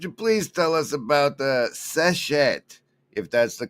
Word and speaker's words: Seshat: Speaking of mythological figures, could you please tell us about Seshet, if that's the correct pronunciation? She's an Egyptian lady with a stick. What's that? Seshat was the ancient Egyptian goddess of writing, wisdom, and knowledge.